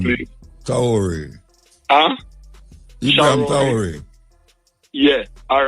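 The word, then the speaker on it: Ibrahim Traoré: Do you pronounce his name Ibrahim, for me, please? Traore. Huh? Ibrahim Traore.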